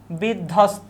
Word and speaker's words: বিধ্বস্ত: বিধ্বস্ত, এখানে কোনো বফুলার উচ্চারণ আমরা পাচ্ছি না।